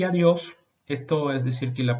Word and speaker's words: adiós: Adiós. Importante que no es adiós, también que la D antes de la I es siempre seca. Hay que subir entonces la lengua atrás de los dientes superiores.